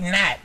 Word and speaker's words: Gnat: do it just like Nat you don't actually pronounce the G in Nat Janette no just Nat Nat TV right I